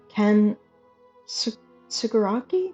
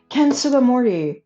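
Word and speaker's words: Ken Sugimori: Ken Suguraki. No, I'm saying it wrong. I'm saying his name wrong. The original artist for Pokémon that has like the beautiful watercolor paintings that he put into the manuals. Ken Suga Morty.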